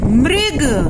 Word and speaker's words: मृग: रखी नहीं रीति और इसका उच्चारण है री मृग जैसे हम आ बोलते हैं कि बोलते हैं वैसे ही हम इसको भी बोलेंगे मृग मॉल में उभरी हुई